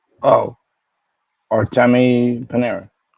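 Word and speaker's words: Panarin: No. Like Paneran. Like Panera.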